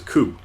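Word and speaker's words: く: up a single syllable you pronounce this is coo and that's cool with me let's practice writing it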